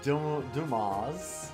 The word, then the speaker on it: Dumas: It's pronounced Dumas. Yeah. Like the writer. It's French.